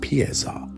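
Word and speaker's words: paiza: To utilize the Yam, a messenger needed an paisa, pronounced pieza, a standardized official passport or tablet, often made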